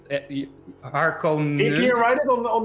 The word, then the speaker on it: Harkonnens: And you pronounce it Harkonnens.